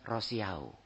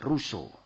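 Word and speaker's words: Rousseau: Antum Insyaallah tahu tetapi biasanya kita bacanya rosiao Ya jin jakues rosiao Nah itu orang Prancis bacanya Joh shak ruso ruso ini terkenal kalau di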